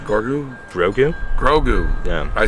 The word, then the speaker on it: Grogu: The business, Oh, and let's redo our one ad we have, and that's for my daughter, who sells Baby Yodas, or Gorgu, right? Gorgu? Grogu.